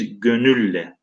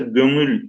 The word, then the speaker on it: gönül: Anadolu toprağı senelerce sana hasret taşıyan bir gönülle. Arkadaşlar gönül kelimesi geniz n'siyle telaffuz ediliyor. Hala kırsalda hani şu an biz belki İstanbul Türkçesine uyarak gönül diyoruz ama hala Anadolu Türkçesinde kırsalda genizden çıkan birine gönül, bir gönülle kollarına